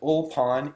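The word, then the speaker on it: ulpan: is still practiced today it's what's called an old pond ul PA n is the way you would spell it in English and it's basically language immersion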